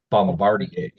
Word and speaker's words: Bombardier: that who made that Bombadier okay okay just or if you pronounce it the way that they do at the manufacturing it's Bombardier Bombardier BRB it's like a